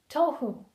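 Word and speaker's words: תהו: Formless, tohu, tav, hey, vav, or wow. To pronounce the word, we have to actually dissect the individual letters. Tav becomes to, hey becomes ho, vav or wow becomes w. Tohu.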